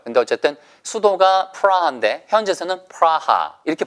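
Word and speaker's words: Praha: 때 체키야라고도 부르고요 근데 어쨌든 수도가 프라한데 현재에서는 프라하 이렇게 발음을 합니다 우리나라 사람이 서울 이렇게 하지 않고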